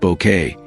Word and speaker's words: Bucket: Best known for her unforgettable portrayal of Hyacinth Bucket, pronounced Bouquet, as she'd insist.